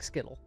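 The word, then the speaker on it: Scytl: do you pronounce that s-c-y-t-l sounds like skittle yeah let's go skittle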